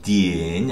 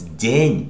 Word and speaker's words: den: And here it is not de, dien, I don't know how to pronounce it, but it's den because it's yeah after the, it's din.